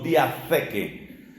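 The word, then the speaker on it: διαθήκη: Además, esa T va con una H, se pronuncia algo así como diateque, diateque con T, H y con K.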